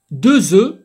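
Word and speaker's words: deux œufs: غنحتاجو دو زو. راه تنقولوا بالفرنسيه يعني ملي كيكون سينغولي كنقولوا ان نوف ولكن راه في البلوريال تنقولوا دي زو. الاف ما كنطقاش في البلوريال ردوا البال.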